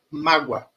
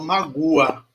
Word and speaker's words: mágoa: Repare que eu não falo magua, certo? Eu falo mágoa. Esse U ele pega a rabeira no som do A. Mágoa. Pega uma carona. Ele não é um som pronunciado. Eu não paro para falar esse som. Do jeito que eu falei com saúde, certo? Eu só solto, ele só está ali no meio. Mágoa. Não é magua, é mágoa, tá?